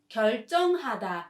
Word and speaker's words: 결정: 결정 is a decision and 결정하다 is to decide. This word is pronounced as 결정 with a tense sound, so please be aware.